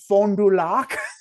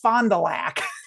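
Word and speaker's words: Fond du Lac: the part of Wisconsin uh and and he pronounced it fondulac and he was like, "Yes, I'm from Wisconsin.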